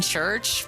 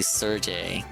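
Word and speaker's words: Cherche: have like uh is this church or Serge Sergey Ser I feel like church church I feel like I've been saying church but it's been wrong this whole time nobody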